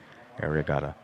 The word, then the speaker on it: Arriagada: on the board rod arigato r-o-d-r-i or sorry a-r-r-i-a-g-a-d-a area gotta it's pronounced like area area what positions i do